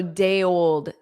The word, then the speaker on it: day old: So day old, day old, day old because the Y, you hear the Y on the old. So it sounds more like yold yol day old day old day old day old.